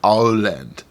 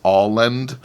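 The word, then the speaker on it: Åland: so uh yeah uh maybe for me the best way is just try to remember it's like all land all land you know like you're saying Holland or something but it's alland I don't know uh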